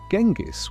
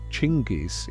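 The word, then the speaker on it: Chinggis: Genis was the original anglicized version of Timujin's assumed name, but Chingis is actually closer to the Mongolian pronunciation.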